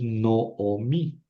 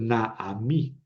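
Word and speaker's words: נעמי: El nombre correctamente pronunciado es Noomi. Noomi. No, no es nada. Digamos que ahí yo tendría la tentación de leer na a mí.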